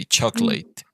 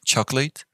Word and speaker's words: chocolate: good so here um this word chocolate some people say chocolate and i think you guys were pronouncing chocolate so what's the idea it's neither of those but this one instead of i mean you don't pronounce this o you don't pronounce it so say chocolate chocolate